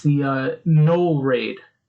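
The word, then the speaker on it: gnoll: left it's the uh null raid did i say that right g-n-o-l-l is it granola like a cannoli i don't know i think it's like nat you know the g is silent maybe all right so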